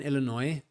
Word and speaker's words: Illinois: I'm in a small town of southern Illinois. Is how to pronounce it.